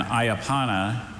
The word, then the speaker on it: ayapana: And ayapana is a low-spreading herbaceous Brazilian shrub whose long, narrow leaves are used to make a mildly stimulating decoction resembling tea.